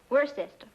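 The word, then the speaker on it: Worcester: But it's spelled W O R C E S T E R. We're sister. Oh, yes, I see. Yes. Lord Worster.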